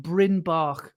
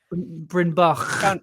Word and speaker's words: Bryn Bach: table, which is called Bryn Bach, which is, do you hear that little Welsh pronunciation at the end? I did. Yeah, it was very good. Bryn Bach.